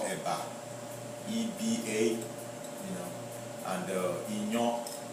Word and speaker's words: iyan: EBA, you know, and inyo. Inyo is spelled IYAN.